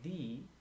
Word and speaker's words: the: like that house or this house before the pronounced vowel we say thee So This Is the